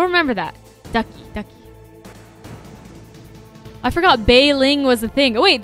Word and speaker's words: Bei Ling: I forgot Bei Ling was a thing. Oh, wait, that's a thing? Oh, because her name is Mei Ling, and Bei rhymes with Mei. Bei Ling.